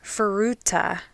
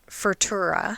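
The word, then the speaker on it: Furuta: a couple so first junko's last name is futa not fura okay I am sorry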